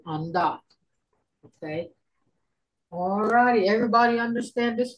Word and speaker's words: vntvt: VNTVT, Jordan, that's undot.